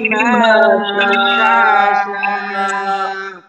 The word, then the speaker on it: بما شاء: ইল্লা বিমা শা, ইল্লা বিমা শাআ। শেষে যেন শক্ত হয়ে হামজার উচ্চারণটা প্রকাশ পায়।